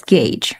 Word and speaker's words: gauge: cross functional partner Gage I've always mispronounced gagee as God for the com comination Au so make sure you pronounce it correctly as gauge right you could say